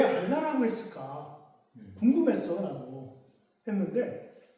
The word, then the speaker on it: 알라: 그러니까 알 왜 알라고 했을까 궁금했어라고 했는데 여기이 반도에서 아라비아 반도에서 이들이 쓰는 언어가 있어요.